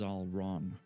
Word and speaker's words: Zalran: Zalran is Zalron. Okay, yeah, I think I was saying Zalron. but Zalron makes sense.